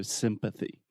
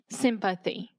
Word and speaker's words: sympathy: in there so sympathy if you don't say the th this could be confused with Symphony which is an orchestra so sympathy sympathy excellent and empathy empathy